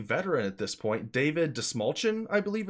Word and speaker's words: Dastmalchian: A DC veteran at this point, David Dastmalchian, I believe it's pronounced.